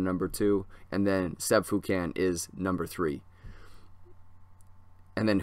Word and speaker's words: Foucan: You can find him on Instagram, Sébastien Foucan, SEB Seb, or Sebastian with an E, and then Foucan, like Toucan Sam, but with an F, and it's pronounced Foucan.